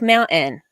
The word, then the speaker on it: mountain: I will say this: people in Utah have a tendency to not pronounce their T's, and they say things like mountain. No, there's a T in there. Mountain, but they say mountain.